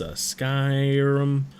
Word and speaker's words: Skyrim: I'm not sure how to pronounce it. It's Skyrim.